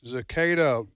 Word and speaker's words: cicada: The cicada. You win the cicada lottery. Yes, and that's why they're everywhere. It's and they're cicada, so loud. starting with a soft C.